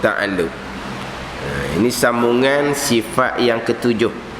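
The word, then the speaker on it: تعلّق: Dan baginya, bagi kudrat 7 ta'alluq. 7 ta'alluq. Itu ejaan sebenarnya. Ta'ain lam qaf. Ta'alluq. Tapi kod Melayu kita jadi ta'luq. Ta'ain lam waw qaf. Tu Melayu kita, ta'luq.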